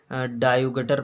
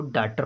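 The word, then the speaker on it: daughter: Example है CAUGHT, कायुगट नहीं पढ़ेंगे इसको, बहुत लोग क्या पढ़ते हैं कायुगट पढ़ लेंगे, इसको डायुगटर पढ़ लेंगे, डायुगटर। अब ये क्या है, गलत है। जब उसको उच्चारण प्रोनाउंसिएशन इंग्लिश में उच्चारण को कहते हैं, उसको अच्छे से प्रोनाउंसिएशन नहीं आ रहा है तब वो नहीं पढ़ पा रहा है। अब इसको कार्ड पढ़ेंगे, CAUGHT को कार्ड पढ़ते हैं। DAUGHTR को डाटर पढ़ते हैं।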